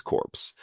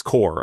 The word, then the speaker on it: Corps: And that included creating the Tech Corps as a new partner initiative of the Peace Corps. Sorry, Peace Corps, I should say. I don't know why I'm, ignoring the silent letters.